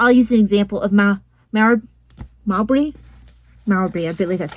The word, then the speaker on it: Mowbray: inheriting lands, well, I'll use an example of Mowbray, I believe that's how it's pronounced.